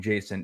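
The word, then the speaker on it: Jacen: character in Star Wars named Jason it is but it's spelled j-a-c-e-n um so in Rebels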